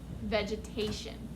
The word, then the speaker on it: vegetation: ahead try it out that g is a what is it i think it's called a soft c or it sounds like i'm sorry g soft g where it sounds like j vegetation remember tion when we see it together sounds like shun very good but a